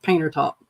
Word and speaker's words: Panther Top: a community called um it's spelled out Panther top but everybody calls it painter top so yeah it's just